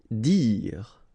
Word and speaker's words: dire: Dire. Same thing here, you don't insist on the final okay, dire.